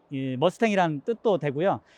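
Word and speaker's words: Mustang: 모르잖아요 그래서 별명이 붙는데 별명이 머스탱 이제 엣날 분들은 일본식 발음으로 무스탕이 라고 발음 하시게 됐어요 그래서 워싱과 아니면 자동차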